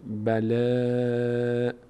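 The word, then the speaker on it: بَلَاءٌ: برنامه بعد بگم ب ب ب بم فتحه داره بعدش الف اومده صدای آ می‌گیره یک مدم اینجاست باید کشیده بشه این صدای آ و چون خود این الف هم این لام هم از حروف مستعلی از اون هشت حرف نیست باریکونده میشه بلا ان این تا اینجا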